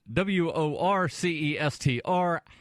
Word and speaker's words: Worcester: That's Worcester. How they pronounce that Worcester makes absolutely no sense to me, other than just like pull letters out and whatever.